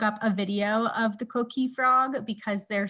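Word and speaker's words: coquí: youtube and look up a video of the co-key frog because their sound is like nothing i've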